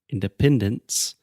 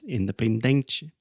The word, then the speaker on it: independence: For example, in the English word independence, accent comes on the first and third syllable, independent. But in Portuguese, it is independente. So, it will only be natural for a Portuguese speaking person to pronounce this English word as independente, which will be foreign to the ear of a native speaking person.